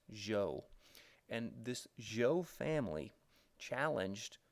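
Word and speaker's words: Zhou: zi h o u it's pronounced Jo and this Jo family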